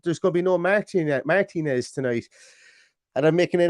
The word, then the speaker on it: Martinez: And I'm making an effort to pronounce it the correct way, which is Martinez, as opposed to Martinez, as I usually call it because of my thick Irish brogue.